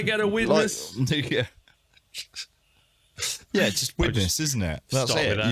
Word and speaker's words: Widnes: Yeah, just Widnes, isn't it?